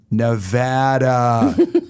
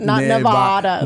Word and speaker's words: Nevada: You said new resident, and immediately I went, Nevada. Not Nevada. Nevada. Well, that's how you say it in Spanish.